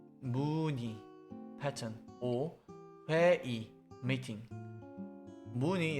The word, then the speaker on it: 무늬: 무늬 is read as 무늬, not 무의.